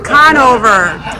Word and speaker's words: Conover: Canova. Conover, okay. Trying to get the pronunciation. What? Nico, don't listen to Nico. It's Conover.